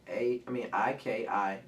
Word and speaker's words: ikigai: Did I spell it right? IKIGAI.